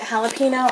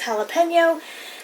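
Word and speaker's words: jalapeño: jalapeno right here and yes i pronounce it jalapeno i know that's not pronounced right i know it's pronounced jalapeno however i pronounce it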